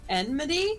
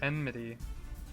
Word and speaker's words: enmity: enmity and it's the N is before the M but okay n midi enmity that's how it's spelled but um it gives